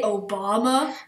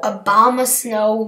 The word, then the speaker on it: Abomasnow: you Abomasnow he me did you just say Obama no Abomasnow me Obama thought I just